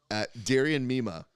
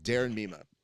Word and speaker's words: Darian Mima: Kevin Sherrill, Darian Mima. I want to make fun of his hats. Hold on. Let me do that again because I think I said his name wrong. Darren Mima.